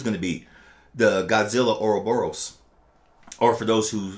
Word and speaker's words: Ouroboros: The Godzilla Ouroboros, or for those who say it pronouncedly, Ouroboros. Oh, yeah, that's how I pronounce it. Ouroboros.